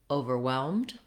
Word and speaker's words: overwhelmed: So in the word overwhelmed, you want your main stress to be on the whelmed syllable.